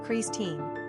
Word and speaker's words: Christine: The form Christine is mainly considered French, pronounced "Creeze-teen," but it is also a version used broadly among English speakers.